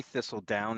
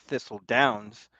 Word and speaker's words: Thistledown: Because I learned how to say Thistledown and not Thistle Downs.